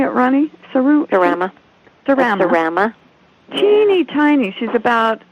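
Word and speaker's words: Serama: Cerama.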